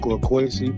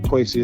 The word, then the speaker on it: Quasey: That's I am quoasy. Quasi is spelled qu u a s e y.